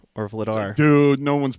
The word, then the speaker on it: Vladar: vlad vlad r or vladar dude no one's pronouncing that dude when your name is dan and it's like vader but with an l in that dude everybody's calling